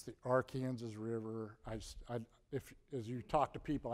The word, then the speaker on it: Arkansas: By the way, Cynthia, it's the Arkansas River. As you talk to people out in the rest of the country, they occasionally mispronounce that word. I just want to be clear. This is the Arkansas River.